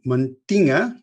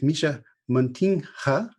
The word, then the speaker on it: Mischa Muntinga: one for the americans in america i would call it montina which is a complete bastardization so it's misha montinha hey rotterdam and he's